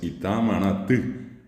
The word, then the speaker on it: Itamaraty: ellos, ustedes saben perfectamente, escriben Itamaraty, allí al terminar es con la Y, que en guaraní esa es la U, y bien pronunciada la palabra es Itamaraty.